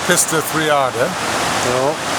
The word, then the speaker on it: Pistyll Rhaeadr: Well, I call it Pistyll Rhaeadr. I highlight the Rhea because that was given to us by our Roman ancestral lineage.